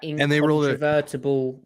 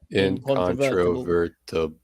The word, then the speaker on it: incontrovertible: Yeah, but I really 3-syllabled that. No, 4-syllabled it. Incontrovertible. Is that 5? 6. 6. Wow, 6 syllables.